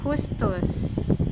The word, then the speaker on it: Justus: Then we have Justus, as they pronounce that in German.